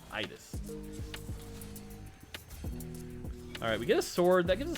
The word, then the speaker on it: Idas: And yes, by the way, if you're wondering how to pronounce it, just think Midas without the M. Idis.